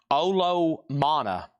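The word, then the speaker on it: Olomana: It's pronounced Olo Mana.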